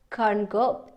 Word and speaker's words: concur: Okay, be of the same opinion, concur, be in accordance. Okay, see eye to eye, go along. So please pay attention to the spelling. I completely concur. R is silent.